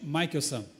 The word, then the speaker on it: Michelson: exemplo é o outro Albert Albert Michael são essa é a pronúncia minha mãe não sabia